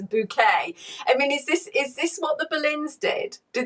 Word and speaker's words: Bucket: She's actually spelled bucket. But she likes to pretend that she's more upper class than she is. So rather than pronouncing her name Bucket, she says Bouquet.